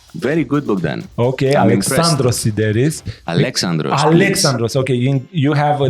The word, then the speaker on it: Alexandros Sideris: Alexandros Sideris. Did I pronounce that right? Very good, Bogdan. Okay, I'm Alexandros Sideris.